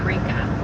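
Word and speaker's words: Yreka: you could also Google cow sculpture WIA California that's spelled y r e k a for yka so there's a hay barn off to my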